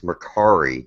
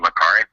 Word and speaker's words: Mercari: A lot of people are asking about this Mercari.